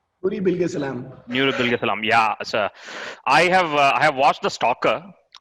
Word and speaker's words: Nuri Bilge Ceylan: Nuri Bilge Salam.